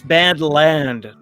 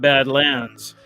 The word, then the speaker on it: Badland: It's Badland, not Badlands, and of course, Badlands is the classic Terrence Malick, Sissy Spacek, Martin Sheen movie from the 70s.